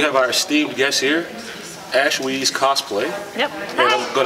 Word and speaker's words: Ashweez: have our esteemed guest here, I'm going to pronounce it right, Ashweez.